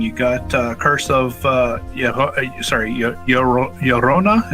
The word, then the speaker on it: Llorona: got kirsov yeah sorry Llorona is that how you say it yeah yeah Yona Yona all right also and